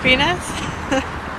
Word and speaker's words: PNAS: environmental science class was p n a s so it's pronounced penis there's like 3 seconds